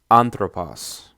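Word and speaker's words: ἄνθρωπος: so it's pronounced as anthropause the acute accent appears on the first syllable which is the anti-penal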